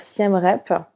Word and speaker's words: Siem Reap: habité comme 2 ans à Siem Reap? Ouais, Ou c'est est-ce que ça ça. se prononce comme ça? Exactement. Alors, en français, on va plutôt dire Siem Rep.